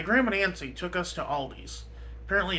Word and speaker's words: Aldi: Like, oh, the first time I ever tried spinach, my grandma Nancy took us to Aldi's. Apparently, it's supposed to be just Aldi, but every American pronounces it Aldi's.